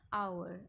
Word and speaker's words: hour: An hour, again the h is silent.